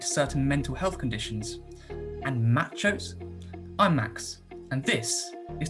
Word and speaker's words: MACHO: are machos i mean they might be pronounced just m-a-c-h-o but i'm just gonna call them machos just to make it easier and macho stands for massive